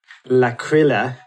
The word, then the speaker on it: L'Aquila: earthquake struck the town of sorry about my pronunciation, L'Aquila.